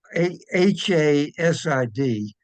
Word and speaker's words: Hasid: It's Hasid, but the H is spelled like a gutter, like a H.